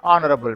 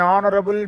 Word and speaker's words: honorable: An honorable man, not honorable, honorable man.